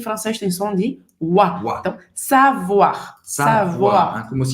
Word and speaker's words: savoir: assim e só pra gente voltar aqui na pronúncia do savoir Lembrando que o oi em francês tem som de Então savoir como f um o a sair muito bem